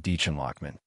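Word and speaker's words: Dichen Lachman: But actually, if you're a fan of Severance or watched Dollhouse back in the day, you are definitely aware of Deechan Lockman.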